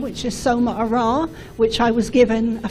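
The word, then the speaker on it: Somarah: Um but I'll start by saying my name which is S Ara which I was given a few years ago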